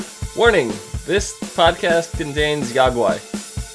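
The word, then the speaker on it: Yaoguai: Warning, this podcast contains Yagwai. Yowie. Yowie. No, it's Yagwai! Gizmo, he's a Mogwai. It rhymes.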